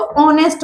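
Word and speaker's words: honest: ये क्या है ऑनेस्ट ऑनेस्ट में एच साइलेंट होता है हम इसको ऑनेस्ट बोलते हैं क्या बोलते हैं ऑनेस्ट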